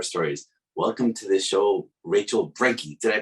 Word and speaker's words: Rachel Brenke: on client horror stories welcome to the show rachel brankey did i pronounce that right yeah you did you did